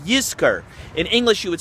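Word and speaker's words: Yizkor: year around the High Holidays different times called you skir in English you would spell it why I z KO are you skir means to remember or will remember yes karela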